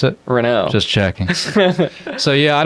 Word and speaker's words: Renault: And how do you pronounce it? Renault.